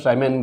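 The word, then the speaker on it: siemens: बोलते हैं ना बेटा, इसको साइमन बोलते हैं। साइमन नाम के एक साइंटिस्ट है, उन्हीं के नाम पे रखा हुआ है, तो साइमन बोलते हैं बेटा ना, SIEMEN होता है इसकी स्पेलिंग। तो ये ओके बेटा, तो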